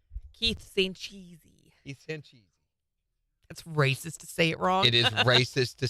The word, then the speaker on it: Sanchez: Sancheesy. Sancheesy. Sancheesy. Say it right. That's racist to say it wrong. Keith Sanchez.